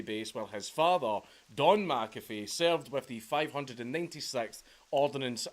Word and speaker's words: McAfee: a Scottish son name and the way John pronounces it McAfee is wrong it's it's an incorrect pronunciation it's meant to be McAfee not McAfee McAfee so uh bear with me throughout the